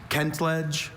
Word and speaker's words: kentledge: Kent ledge. Also, Kentledge. May I have all the information, please? Kentledge.